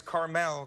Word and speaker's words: Carmel: the name restaurant is Carmel Cafe and Wine Bar it's not the little candy at all it's like the place in California Terry Ryan am I correct yes sir okay Carmel Cafe and Wine Bar